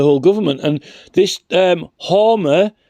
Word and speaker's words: Hermer: government and this um hmer or hermer even I keep pronouncing it wrong hermer the Attorney General is